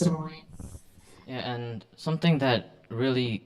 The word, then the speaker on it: Des Moines: That's what it looks like, but it's pronounced Des Moines. So it's a French word, and so there's some French heritage to some of the settlers in Iowa, and so yeah, it's pronounced Des Moines.